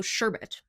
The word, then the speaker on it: sherbet: What is interesting is that the dessert Rainbow Sherbet is Rainbow Sherbet. It's not Rainbow Sherbert. But in North America, people commonly pronounce sherbet as sherbert.